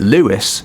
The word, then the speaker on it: Louis: people Nation of Islam another Louis that pronounced it Lewis was one of the